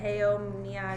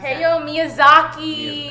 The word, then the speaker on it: Hayao Miyazaki: Heyo Miyazaki. Hayao Miyazaki.